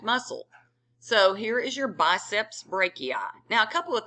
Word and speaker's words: biceps: arm the other thing did you notice that I say biceps and not bicep BP bicep you're saying two head no biceps two heads all right so